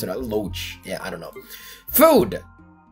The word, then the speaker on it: loach: for we got loach pearl that's how you pronounce it loach yeah i don't know food okay oh very